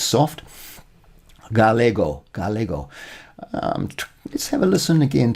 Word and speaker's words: galego: No, ga, that should be hard. Like gato and go. Jorge is my clue there. With an E, it's soft. Galego.